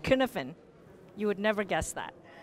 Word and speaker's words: Cynefin: It's a Welsh word and it's pronounced Cynefin.